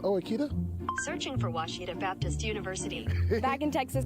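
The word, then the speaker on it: Ouachita: It's Washita, people. It's Washita. Washita.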